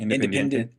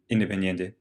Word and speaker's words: Independiente: Independent. Yeah. To PSV to Liverpool, Liverpool to Barcelona, Barcelona to Atletico back down to. Say it again. Independiente.